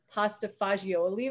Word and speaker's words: pasta fagioli: I had to look up how to pronounce this, but I love pasta fagioli right now.